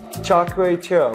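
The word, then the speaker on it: Char Kway Teow: Char Keow Teow, am I pronouncing that right?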